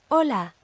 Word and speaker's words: hola: Hola, hola, Hugo, Hugo. Hasta pronto, hasta pronto. Okay, and as you can hear, there is no sound from that H by itself at all.